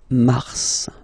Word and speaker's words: mars: So in a way it's an exception because normally final S is not pronounced in French. Okay. We've got some exceptions and this one is one of them. So Mar pronounced the final S. Mars.